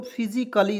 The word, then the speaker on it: physically: देखिए यहाँ पे आइए, जैसे यहाँ पे PHYSICALLY, क्या पढ़ेंगे दोस्तों, फिजिकली। इसमें ए को साइलेंट कर रहे हैं।